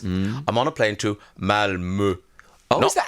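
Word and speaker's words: Malmö: I'm on a plane to Malmo. Oh, is that how you say it? Not Malmo. Malmo.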